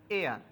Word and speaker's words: heir: তৃতীয় word এয়ার, HEIR, উত্তরাধিকারী, যার উচ্চারণ হয়েছে এয়ার, এয়ারের ক্ষেত্রে উচ্চারণ হয়েছে ভাওয়েলের, সুতরাং যেহেতু ভাওয়েলের উচ্চারণ হয়েছে সেখানে বসবে এন।